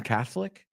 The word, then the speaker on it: Catholic: Are you Roman Catholic? Okay, es como la O no la pronunciamos.